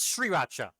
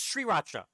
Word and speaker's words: Sriracha: Before they can pronounce Sriracha, they call call it sauce or rooster sauce. So it is Sriracha. It is Sri I've been calling it right the whole time then. It is Sriracha.